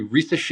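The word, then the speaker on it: Risacher: have to say it it's Zachary rache in case you did not catch that um he's actually having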